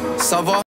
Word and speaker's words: ça va: Sava. Oh, that's how you pronounce it the whole time. I was saying Cava.